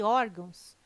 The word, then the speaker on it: órgãos: as palavras paroxítonas ah e tem correto caráter intransferível e órgãos tem sua sílaba tônica na penúltima sílaba são paroxítonas observação poderia gerar dúvida a palavra órgãos mas ela não termina em ó termina em não banco a cesp defensoria